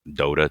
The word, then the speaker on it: Dota: So, top tier pros in games like Dota 2. I don't know that game, but okay. Dota is this. Am I saying it right? Dada.